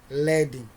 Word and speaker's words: leading: it is leading by it is pronounced as what leading okay it's a term